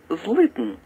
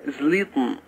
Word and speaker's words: زليطن: من هذا اللي هي كلمه مثلا مدينه زليطن زليطن لاحظوا الزين كيف نقطعها لو نطقناها بعرف زين عربي صريح لقلنا زليطن لكن هي زليط اسدين عندك زربوط زربوط